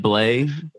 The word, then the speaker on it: Bley: sure I'm saying it right too right blle am I saying your name correctly it's BL